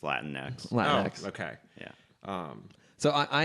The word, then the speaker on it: Latinx: to pronounce like the when they write it lat like lateen X oh it's just Latin next Wow okay yeah so